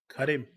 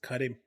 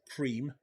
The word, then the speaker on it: Karim: Karim. Kadim. Is that It's Karim. Kadim. Yeah. Not cream. Karim.